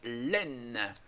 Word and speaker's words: Aisne: le département numéro 2 line donc line euh prononce pas on prononce pas le S voilà euh la région